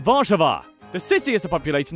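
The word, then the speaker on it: Warszawa: largest city is warsaw which in polish is pronounced varchava the city has a population of around 1.7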